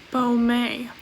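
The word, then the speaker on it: Baume: august hello editing leah here to say that it's pronounced bomey yeah i want to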